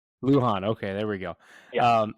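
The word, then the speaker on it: Lujan: is it Zack Leon is that how you pronounce it Luhan Luhan okay there we go um so he's a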